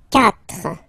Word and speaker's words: quatre: Quatre. Quatre. Okay? So remember that even if you get this U vowel here, basically you don't pronounce it.